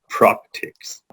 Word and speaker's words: practice: Practice, practice, practice, practice. But it's not pronounced like that at all. The end, the second syllable in the word practice, is is. It's is, soft S, is.